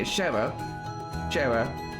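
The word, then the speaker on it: Schera: Okay, Shara.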